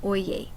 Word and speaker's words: Oye: several stories about Tom Oi. Now, one of the first things is that he taught me that um Japanese names always have at least two syllables. And so, it's not oi, it's oi.